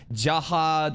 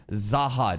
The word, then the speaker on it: Zahad: Ja, it's a weird thing of like Jahad or Zahad, right?